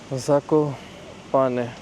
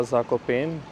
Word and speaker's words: Zakopane: पर हम उतरे और स्टेशन का नाम है साको पाने इंग्लिश में मैं नॉर्मली से प्रोनाउंस कर रहा था जाको पेन लेकिन यह नाम नहीं है इसका मतलब नाम तो यही है प्रोनाउंस को पाने करते हैं जड ए के ओ पी ए एन ई काफी खूबसूरत सी वादियों